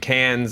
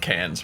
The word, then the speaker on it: Cannes: out this weekend debuted Cannes May 16th always always if they didn't want to say an S they wouldn't put an S there Dan I wouldn't tell